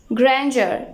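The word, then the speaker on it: grandeur: ग्रैंडर यहाँ पर D pronounce नहीं होगा।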